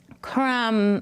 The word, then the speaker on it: crumb: Crumb, mm. What do you hear? We hear the mm, and remember it's a silent letter, so there's actually a B at the end.